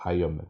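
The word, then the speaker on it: iron: 이게 아이런이라고 읽는 친구 있는데 아이런 아니에요. 아이언입니다. 아이언. 이거 묵음이에요. 여러분들 아시죠? 아이언맨.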